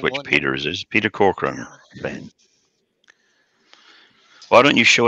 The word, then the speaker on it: Corcoran: How is this supposed to be said, Peter? Corcoran. The way I just said it, Brian.